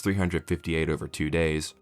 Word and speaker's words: 358/2 Days: wants you to forget Kingdom Hearts 358 over 2 days and yes that is apparently how you're supposed to pronounce it was originally released